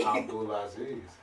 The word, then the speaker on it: Abdulazeez: Abdul Aziz.